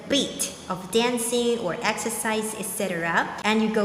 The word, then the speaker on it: 一: of dancing or exercise etc and you go like now e in this case is pronounced the first tone the eurasian tone this one the year right 1995.